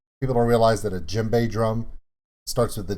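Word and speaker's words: djembe: pretty sure the d is silent similar to jimbei it's he is silent people don't realize that a jimbei drum starts with the d j e m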